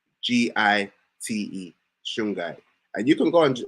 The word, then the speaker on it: shungite: for me sweetie yeah so s-h-u-n-g-i-t-e is called shungai and it come it comes from like russia